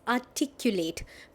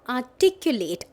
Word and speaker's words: articulate: So the first word that we have is articulate. Pronunciation ध्यान से सुनो. Articulate, R जो है it's silent.